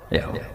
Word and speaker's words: Yahweh: Yahweh. Iku nak teng ejaan Latin Y besar, A H besar, W E H besar, Yahweh.